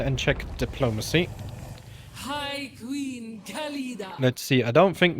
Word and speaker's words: Khalida: I did read into the Khalida law. Or Khalida, she just said. I just realised I've been saying her name wrong.